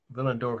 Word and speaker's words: Willendorf: Now, Willendorf is with a W because it's a city in Austria where they speak German. So a W is pronounced like a V. I'll spell it. Willendorf. One word. Willendorf. Willendorf. If you want to say it with a W, that's okay. It doesn't matter.